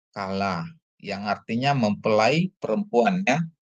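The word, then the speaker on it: כַּלָּה: Terus ada kap dikasih patah, ini mana kap itu ada dagesnya jadi k ya. Sedangkan lamet dikasih kamats jadi la tambah he ya. Jadi bacanya jadi kala.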